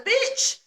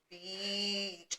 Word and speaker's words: beach: And she was telling me again, I was like, beach. So that little insect, you're gonna say beach, you know, like Nah, bitch. yeah, not like and Bitch.